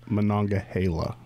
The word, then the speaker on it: Monongahela: right content usually you know 90 plus 95 Monongahela no not Gila when I get Hale on gala I mean it probably is properly pronounced Monongahela but if you live in Managua Gila or